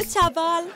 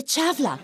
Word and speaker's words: تشافلا: مرحبا مدام تشافال. ما بتنقال تشافال، بتنقال تشافلا. تاء شين الف في لام.